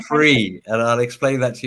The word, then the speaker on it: Frii: got to apologize because I was pronouncing the name wrong as in Fry world like yeah it's free and I'll explain that